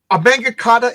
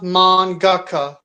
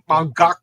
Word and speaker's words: mangaka: So uh so Aangakata is that the name of the person who who creates and draws it or like the guy actually it's pronounced mangaka. Mangaka say it again please.